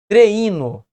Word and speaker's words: treino: Nós não falamos treino. Treino. Nós falamos treino. 2 emissões de voz. 2 sílabas.